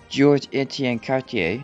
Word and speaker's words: Georges-Étienne Cartier: I didn't know that properly segue into this, but also in 1873, Macdonald's right-hand man, Georges-Étienne Cartier, yes, I finally pronounced his name correctly, I'm not fixing all